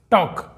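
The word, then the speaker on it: talk: वॉक का मतलब टहलना टॉक यहां पर के के पहले एल साइलेंट है तो टॉक का मतलब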